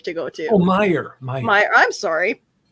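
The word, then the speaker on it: Meijer: to um sorry i major or the grocery store that you like to go to oh myer my i'm sorry apparently you're not supposed to pronounce the j who knew uh actually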